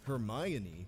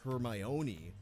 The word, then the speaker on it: Hermione: little bit about Miss Hermione Granger. First of all, her name is pronounced Hermione, not Hermione. You can remember where the accent goes because it's on the my, as in Hermione is